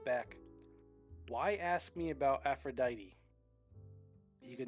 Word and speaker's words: Aphrodite: Aphrodite or Aphrodite? Aphrodite.